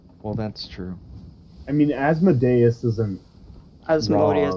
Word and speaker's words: Asmodeus: Have I been saying it wrong? It's Asmodeus.